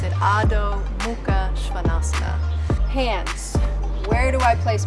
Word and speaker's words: Adho Mukha Svanasana: In Sanskrit, we pronounce it Adho, Mukha, Svanasana.